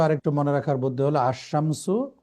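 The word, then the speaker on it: الشمس: এটা আপনার জি জি সহজভাবে আরেকটু মনে রাখার বুদ্ধি হলো আশামসু আল কমারু। আশামসুতে জি দেখেন জি লাম এখানে উচ্চারণ হচ্ছে না, সরাসরি আলিফ শিনকে যে ধরতেছে।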